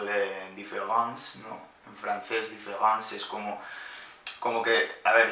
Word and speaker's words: différance: Y la cosa es que se pronuncia de la misma forma, ¿no?